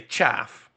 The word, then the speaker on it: chaff: I'll just put my chafe in front of it to stop it moving. Your chafe. My chafe. I feel like you're trying to say chaff. Oh, is it pronounced chaff?